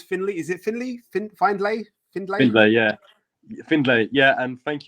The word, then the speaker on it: Findlay: joined by Finley is it Finley finally Finley yeah Findlay yeah and thank you for pronouncing my first name correct as well you